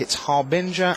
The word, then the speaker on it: Harbinger: had one person say it's pronounced uh the harbinger is pronounced Harbinger and we've had one say it's pronounced Harbinger okay well I've got bad news for you my wife's a linguist I'm pulling rank it's Harbinger and it's wizen sen that's